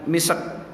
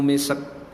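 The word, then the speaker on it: مسك: Bacanya jangan misek, ya, khitamuhu misk. Karena sin bukan qalqalah. Ya.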